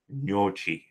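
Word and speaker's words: gnocchi: pasta on o is no cheek the G is silent Arnold took told me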